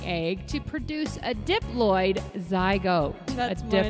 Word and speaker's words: zygote: But zygote, it rhymes with goat.